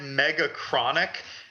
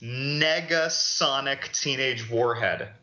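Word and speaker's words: Negasonic Teenage Warhead: He said mega chronic instead of mega throw in an n and it's mega sonic teenage warhead.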